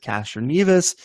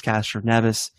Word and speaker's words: Castroneves: By the way, Rocha mispronounced Castroneves. He said Castroneves. It's Castroneves. But Aaron, further thoughts, or Frank, further thoughts?